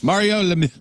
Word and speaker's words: Lemieux: Crappy birthdays: Jesse Eisenberg, 37; Kate Winslet, 45; Guy Pearce is 53; Mario Lemieux is 55; Brian That's Johnson. actually how you say it. Everybody's been saying it wrong all the time. Mario Lemieux.